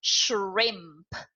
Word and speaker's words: shrimp: SH our i MP shrimp can you guess how many syllables are there shrimp one yeah because the Shh is the air it doesn't count as a syllable so we don't count